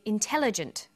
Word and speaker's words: intelligent: But when you come across longer words, you have to learn which syllable to stress. For example, we say intelligent, increasing, and markedly.